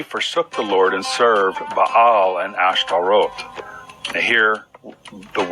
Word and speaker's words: Baal: In one of my recent videos, I mentioned that the Hebrew word Baal, sometimes pronounced Baal, is used for God.